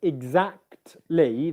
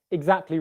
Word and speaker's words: exactly: called elysian in english when you've got three consonants together like we have in the word exactly that consonant combination there because the t sound is in the middle you might not hear it being pronounced so if i said exactly really quickly especially if i'm speaking a bit more informally what's going to happen is i'm not i might not pronounce that t so i might get